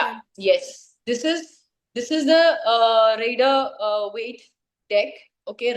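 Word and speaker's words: Rider-Waite: This is the rider weight deck. Okay, rider weight भी बोलते हैं, rider weight भी बोलते हैं, ठीक है, अलग अलग प्रोनाउंसिएशन है.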